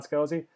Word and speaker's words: Scalzi: Is that how you pronounce his last name? Help me out there. Scalzi? Yeah, Yeah. John Scalzi.